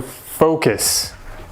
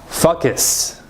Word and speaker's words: focus: Yeah, we need to focus. So again, make sure you say the vowel sounds correctly. Focus, not fuckus.